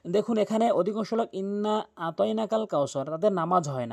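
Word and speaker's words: أعطيناك: এখন যখন অধিকাংশ লোক আইন উচ্চারণ করে না, যার ভুল অর্থ দ্বারায়, সেই ক্ষেত্রে নামাজ ভেঙে যায়।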